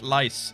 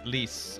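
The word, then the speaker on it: Lyse: stor blood right Lisa what's that called lice leas leas lice what's her name she's either to me lice yeah le le le le not lice yeah yeah yeah leas lease okay nabuo spelled Le pronounced leas yeah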